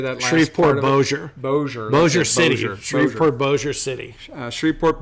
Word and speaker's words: Bossier: Bossier City.